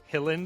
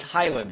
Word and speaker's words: Hiland: Special guest today, Hilland. Am I pronouncing that correctly? No, you you slaughtered it to be honest with you. It's Highland.